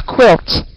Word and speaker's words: quilt: speak like this a guilt for to put on the bed that oh a quilt uhhuh a quilt qu yes yes okay the pronunciation is like uh k w quilt all right a quilt